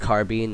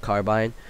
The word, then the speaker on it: carbine: Yes, it's pronounced carbine, not carbine.